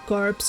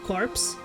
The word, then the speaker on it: corpse: some small errors like corpse you pronounce it like corpse you don't pronounce it the p in Corpse just like course that sounds strange